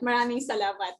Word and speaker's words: Maraming salamat: Maraming salamat for joining us, just as Kat said. So you said it right. Maraming salamat.